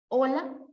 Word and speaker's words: hola: al momento de pronunciar, recuerden que la H es muda. Hola, hola. ¿Sonaron igual? ¿Sí o no? Olvidándose de la H, ¿suena igual? ¿Sí o no? Hola, hola. Si tiene el mismo sonido o la misma escritura,